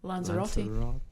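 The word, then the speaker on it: Lanzarote: How do you pronounce it in English? Lanzerati.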